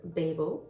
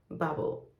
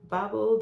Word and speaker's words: Babel: with the author and she pronounced this as bubble which makes sense because this is the American pronunciation of this word and she's an American